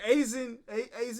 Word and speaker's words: Aizen: Because Aizen, that's how you pronounce it, is in Bleach too.